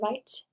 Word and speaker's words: write: Silent W in write, W-R-I-T-E.